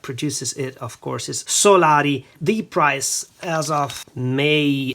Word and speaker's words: Solari: a couple of times already the way to pronounce the brand is Solari and then Udin which is the city or